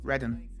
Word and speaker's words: Reading: Ogres of Reading. Oh, okay. Yeah. Readen. It's a place in Britain. Oh, Redden.